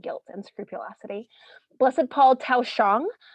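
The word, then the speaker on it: Thoj Xyooj: Blessed Paul Tao Shang, that's pronounced Tao Shang.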